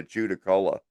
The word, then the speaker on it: Judaculla: Judda. That's a double D. Judda. Shout out Right. Dylan Dorbuck. Judda Culla. Judaculla.